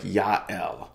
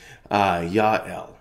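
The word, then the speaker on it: Jael: woman named JL j-a-e-l in Hebrew her name would probably be pronounced something like Yael Yael and some of you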